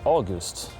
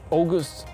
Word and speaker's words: August: I say August. In my own accent in Swedish, I would just say August. And in Danish, it would be like August. And in Americans, they say August. You know, it's just very different pronunciation.